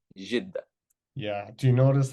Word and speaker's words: Jeddah: That's how they say it. It's not Jeddah, it's Jeddah.